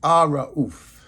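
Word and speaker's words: الرؤوف: It's Arra'uf. The compassionate. It's the compassionate. Arra'uf is spelled A-R-A-U-F.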